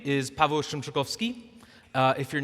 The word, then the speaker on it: Szymczykowski: So if you can say Pa, Bell, Shrimp, Chick, Coffee, Ski, we'll call it close enough.